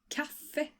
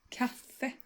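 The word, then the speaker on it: kaffe: is not very complicated it's pronounced like this Cafe can you say thata Cafe BR so just like in many other cases you stress both parts of the word here so it's going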